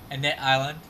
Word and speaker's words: Annette Island: Annette Island.